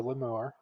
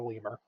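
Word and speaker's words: lemure: First of all, that's a leure, not a lemur.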